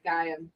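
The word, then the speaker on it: Gaiam: Yeah, Gam.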